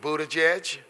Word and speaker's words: Buttigieg: a Democratic presidential hopeful I have been practicing the pronunciation of his name it speak Budaj edge but we just want